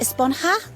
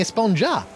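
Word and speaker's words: Esponja: grande thing has been about huh actually it's pronounced espanha with an h sound at the end really but we've all been saying a sponge up yes i know it's been bothering me this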